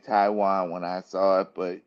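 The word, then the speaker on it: Taijuan: Tijan. That's Taiwan.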